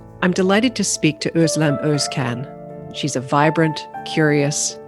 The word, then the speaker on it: Özlem: nice to see you nice to see you too who islam thank you so much for being here and